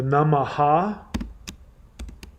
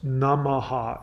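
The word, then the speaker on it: नमः: The Namaha, the Ha is silent. So the best way to pronounce those Namaha is Namah. You don't say Namaha, it's Namah.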